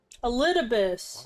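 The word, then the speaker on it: Elidibus: Elibus, while you were enjoying your That's how you say his name.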